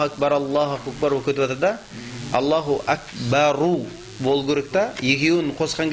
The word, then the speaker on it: الله أكبر: Аллаху акбар өтіп атырда, Аллаху акбару бол керек та, екеуін қосқан кезде келесімен жаңдай қосқан кезде сол р фатхалы болмау керек. Аллаху акбара болмау керек. Аллаху акбару бол керек та.